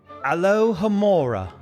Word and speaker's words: Alohomora: Alohomora. Excellent pronunciation.